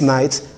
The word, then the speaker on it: knight: no intended meaning so we just have to put the letter key for eight lexical purpose that is for each spelling purpose and for its meaning purpose but it has no feature in phonetics so it they are